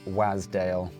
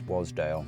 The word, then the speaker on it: Wasdale: been pronouncing Wasdale incorrectly I've been pronouncing it as a Waz wazdale but it's not that apparently it's Wasdale so apologies for anyone